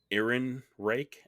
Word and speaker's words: Ehrenreich: We got Eldon Ehrenreich, I think is how you pronounce his name, as Zeke Stain.